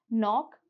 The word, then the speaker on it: knock: So here in these words, knock, knack, and knuckle, the K is silent.